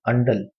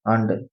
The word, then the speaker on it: Andal: हम्म, तो कुछ वुमेन्स का नाम बता देता हूँ, एक अलवर में थी अंडल। अंडल, आंडल।